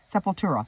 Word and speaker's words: Sepultura: Black Sabbath Judas Priest Slayer Ministry panta sepulta Sepultura seur that's how you say it Black Flag